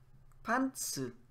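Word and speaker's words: パンツ: If you say upwards, pantsu is trousers. So pantsu. Pantsu. Downward. If you say it like in a low tone, it means underwear.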